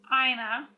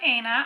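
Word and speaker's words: Aina: the Jackie I think I've been saying her last name wrong ina it's not Anna I said Anna but it's ina from my understanding if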